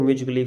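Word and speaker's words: musically: यदि ए के बाद में आपको कहीं डबल एल वाई दिखे, ए के बाद में डबल एल वाई दिखे, तो वहाँ पर हम ए का उच्चारण नहीं करते हैं, जैसे म्यूजिकली, फिजिकली, रोमांटिकली।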